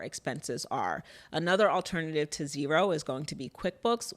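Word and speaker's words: Xero: so the accounting software that we use is zero which is spelled x e o and this allows us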